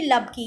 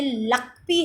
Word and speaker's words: Lakpi: अब हम पढ़ेंगे यूबी लबकी, ये एक्चुअली बेटा लबकी नहीं है, इसको स्पेलिंग ठीक कर लीजिए, ये लकपी है, यूबी लकपी, LAKPI।